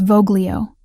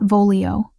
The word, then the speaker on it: voglio: It's Voglio, not Vololio. Soft G like this.